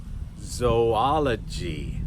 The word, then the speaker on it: zoology: use too much but when we have the double O's both O's have sounds One of those is a science word "zoology" "Zoology" .